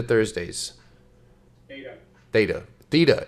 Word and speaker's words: theta: Theta Thursdays. Theta. Theta.